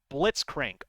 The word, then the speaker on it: Blitzcrank: Annie blitzcrank did I say his name right blitzcrank there we go the blitz boy I believe